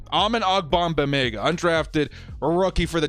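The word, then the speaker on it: Amen Ogbongbemiga: man's name uh okay let's say it together with me all right amen we're doing it Dora the Explorer style almond ogbong bad Mega almond ogbamega undrafted a rookie for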